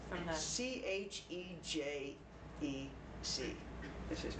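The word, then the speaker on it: Chejfec: I can't pronounce it correct. He's Argentinian. Chechvek. Oh, like from the... Chejec is his name.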